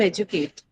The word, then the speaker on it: educate: this category right here even in the verb educate the stress is on the first syllable that is on edu right even that when you